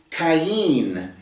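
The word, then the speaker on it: קין: Vav uh and she conceived and gave birth to cayenne is the way it's pronounced in the Hebrew. Uh it's a kof yod final noon kain.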